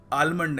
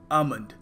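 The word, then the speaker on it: almond: महंगा सा बादाम देखिए यहां पे जो एल है इसको हमें प्रोनाउंस करने की आवश्यकता नहीं है सो हम इसको आलमंड नहीं कहेंगे हम कहेंगे आमंड तो अगली बार जब आप शॉप पे जाएंगे तो यह कहिए 1 किलो आमंड आलमंड नहीं देखिए अगला शब्द है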